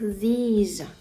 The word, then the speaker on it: these: в множені вимовляється як these не не плутайте з this тому що this на кінці звучить звук S А these є трошки більш протягнутим і на кінці звук більш схожий на букву з these thoseі тобто коли